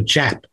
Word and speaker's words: Yap: There's an old story in Manos about the coconut that floated to the north, to the island of Jap. They pronounced their Y's with a J.